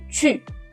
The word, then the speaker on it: 去: 去, c'est pas que, c'est 去.